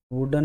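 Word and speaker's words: wooden: अब जैसे ये है तो इसको कुछ लोग उड्डन उड्डन बोलते हैं, उड्डन नहीं है, वुडन है, यानी कि ये वह है, यानी वह के साउंड दे रहा है, तो हम इसमें ए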